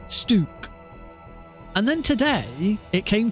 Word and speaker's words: Stuk: to be stook it it looks like it should be stuck but without a c and I don't want